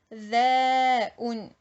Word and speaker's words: حذاء: Là le H, il faut le prononcer Ha. Il faut que ça sorte vraiment du fond de la gorge. Hi. حذاء حذاء.